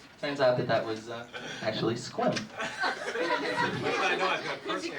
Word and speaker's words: Sequim: Turns out that was actually squim. I know I was going to personally offend Bob. Jack, that's where Bob's from. That's where Bob's from. It's a temple. Squim, Washington. Squim. One syllable.